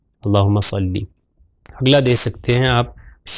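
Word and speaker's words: صلّی: اگر اردو تلفظ کر دیں تو صلی ہو جائے گا، عربی کے حساب سے عربی تلفظ کے حساب سے صحیح نہیں ہوگا، تو عربی میں ہو جائے گا صلی.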